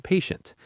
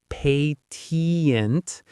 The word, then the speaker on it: patient: It's not patient. The ti in the middle makes a shh sound like when you're telling someone to be quiet. Shh. Listen. Patient. Patient. The stress is on that first syllable.